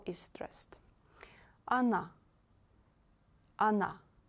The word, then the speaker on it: она: Она, она. O you read as A, because here O is not stressed. Она. Please don't say она. It's not correct. Она, она.